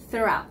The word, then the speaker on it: throughout: room out okay so another th sound there throughout throughout the weekend throughout the weekend okay